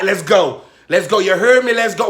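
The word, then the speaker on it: Geaux: Go is spelled G-O.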